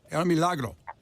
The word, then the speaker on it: El Milagro: of people miss that the I is pronounced like a double E. So it's not El Milagro, it's El Milagro. El Milagro.